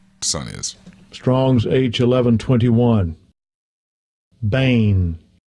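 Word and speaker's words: בן: is strong sage 1121 bane bane yeah that's the way they pronounce begotten in their language before English son children old first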